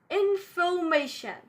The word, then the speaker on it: information: Let me tell you, we do not pronounce R after vowel. For example, this word, in second syllable of this word, we have O and then R. So we won't pronounce R because it's after the vowel. We'll pronounce it like information. Information, not information.